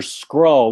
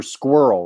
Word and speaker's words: Skrull: You're saying Super Skrull, not Super Squirrel, right? No, Super Skrull.